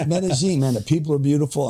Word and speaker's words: Medellín: it the right way am I saying it right yeah yeah yeah that took me a year to say it the right way medene baby medine man the people are